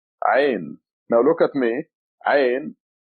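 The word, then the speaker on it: عين: Ain. It comes from your throat. Ain. The sound, I'm trying to make as much sound as possible to let you get a feeling of that letter.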